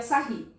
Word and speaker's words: Sarrus: Se escreve Sarrus, mas a gente pronuncia Sarri.